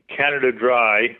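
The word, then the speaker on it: Canada Dray: utterly Charming his camel Canada Dry pronounced like the soda but I don't know if it's an intentional pun the dry was spelled Dr a y like a Dre horse uh that Camel had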